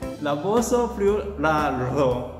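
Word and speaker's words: Raboso Friularo: Rabosofriularo.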